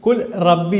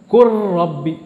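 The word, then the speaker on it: قُل رَّبِّ: லாமும் ராவும் ஒரே மகரஜ், அதாவது ஒரே ஒரு உச்சரிப்பு. லாமும் ராவும் பக்கத்தில் பக்கத்தில் சொல்லப்படும். லாம் ரா ரெண்டும் இந்த நாக்கு மேலே தொடும்பொழுது வரக்கூடியதாக இருப்பதனால் இந்த லா இது ராவில் சேர்ந்து குல் ரப்பி என்று சொல்லாமல் குர் ரப்பி, குர் ரப்பி என்று சொல்லப்பட வேண்டும்.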